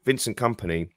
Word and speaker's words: Vincent Kompany: So we have a situation where, so Vincent Kompany says his name anglicized, and then he says it, you know, in his native accent, you should say, you know, Vincent. But he doesn't want to do that, because he lives in England now, he works in England now, and he feels like Vincent Kompany, and I can accept that.